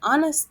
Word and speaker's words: honest: letter H an hour an honest man honest man so we don't pronounce the letter H so this is an